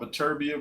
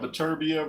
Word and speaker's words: Beterbiev: You got Beterbiev or Bivol? Some people say Beterbiev. I think it's Beterbiev. Beterbiev doesn't sound right. It's the wrong emphasis on the wrong syllable.